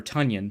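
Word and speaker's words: Tonyan: with with big Bobby tanan um or tanion sorry forget it rhymes with funion um but but everyone's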